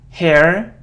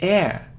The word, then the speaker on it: air: It isn't hair or higher. No, it's air, air, air.